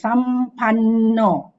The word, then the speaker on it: sampanno: Remember the end with the dot is pronounced as not, na. So it's Sampanno.